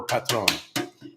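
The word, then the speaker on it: Patrón: Because normally in Spanish, in a word like this with 2 syllables, it would be the first, the second last syllable, which is the heavy one, unless there's a little thing on it, and that means it's heavy on the O. So heavy on the O for Patron.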